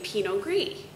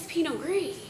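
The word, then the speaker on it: Pinot Gris: we started out making Peno gree and everyone said you know what is Peno gree and Peno gree and penio are the same grape one is the French pronunciation one is the Italian pronunciation but essentially it's the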